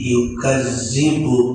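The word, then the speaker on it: يُكَذِّبُ: Ara'aital ladzi, nah itu ara'aital ladzi yukazzibu bid-din. Yukazzibu bukan dal tapi zai.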